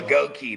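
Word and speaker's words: Goedeke: Gookie, dude, that's a up name. Goi. There you go. Goki. That's how we're supposed to pronounce Goki.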